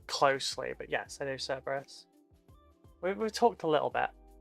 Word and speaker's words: Cerberus: Does he pronounce it Cerberus or does he pronounce it Kerberos? Because, like, at the time, the language had no soft C sounds, so Cerberus is technically pronounced Kerberos.